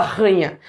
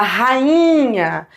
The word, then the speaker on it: rainha: a ranha da Inglaterra você não fala ranha você fala rainha para essa vogal ser forte não se tornar uma semivogal você tem que deixar ele separado isolado numa sílaba só faz sentido isso mesma